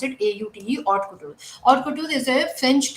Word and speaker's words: haute couture: Again यहाँ पे H जो होता है वो silent होता है. We pronounce it AUTE, haute couture.